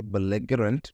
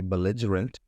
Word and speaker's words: belligerent: is belligerent belligerent pronunciation you will not say bigant you will say belligerent belligerent means a person